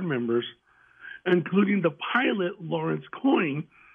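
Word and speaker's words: Coyne: including the pilot Lawrence coin c c y n e but it's pronounced coin okay that claimed to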